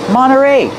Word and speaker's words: Monterey: Monterey Peninsula Yacht Club Monterey you have NT you don't hear the T when it's between vowels Monterey you can say Monterey but you'll usually hear Monterey Monterey Peninsula Yacht Club